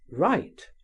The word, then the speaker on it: rite: widely different in signification, are pronounced exactly in the same manner. Write w i g ht. Write w wr i t e. Write r i g ht.